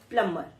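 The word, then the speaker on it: plumber: ये बी इसमें साइलेंट होता है। इसकी प्रोनंसिएशन इज़ प्लमर।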